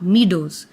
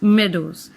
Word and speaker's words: meadows: The word is meadows, not meadows, it's meadows.